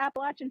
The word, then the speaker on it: Appalachia: Boone, North Carolina, and she trained me on how to say it. So it's Appalachia. I Appalachia. know I grew up saying Appalachian too, but Whatever.